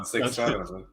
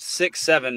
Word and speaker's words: 6-7: Give me the 411 on 6-7. So here's this one paragraph of this article makes me so angry. The term 6-7, pronounced 6-7, never 67, has vast lore.